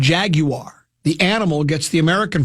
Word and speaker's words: Jaguar: This one says, Jaguar, the car, gets the British pronunciation, Jaguar. The animal gets the American pronunciation, Jaguar, since the football team's logo is not a car.